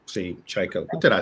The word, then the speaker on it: Tchaiko: But Tchaiko, I want to go back a little bit, and your debut film, Solace. Tchaiko. See, Tchaiko. What did I say? Tchaiko. I am going to get it right. Tchaiko.